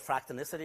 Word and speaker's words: fractonicity: matter I called it fractal Missa tee in my title slide because fractal Missa tee nicely rhymes with elasticity so the kind of